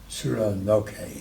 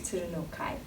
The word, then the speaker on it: Tsurunokai: Tsurunokai. Tsurunokai. Kai. So 80% there. Yeah. I have one syllable to work on.